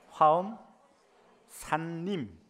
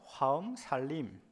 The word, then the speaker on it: 화엄산림: 발음을 똑띠 단디 하십시오. 화엄 산림. 빨리 하면 화엄 살림. 갱상도 발음으로 하면 화엄살림.